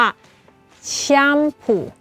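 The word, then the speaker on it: 샴푸: รอบ นึง แล้ว กัน คำ ว่า ชัมพู แชมพู อื มัน เหมือน เป็น ชะ ยำ แล้ว พูด เร็ว ๆ ใช่ มย แชมพู แชมพู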